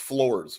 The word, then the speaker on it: Flores: no, it's pronounced Floors, which is the dumbest thing you ever heard.